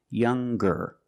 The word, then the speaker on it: younger: When we change these adjectives with ER or with EST, we're going to pronounce the G sound, the hard G. So it's younger, ger, with a G sound.